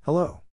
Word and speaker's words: hello: accent or stress is in this case the accent is in the second syllable corresponding to low huh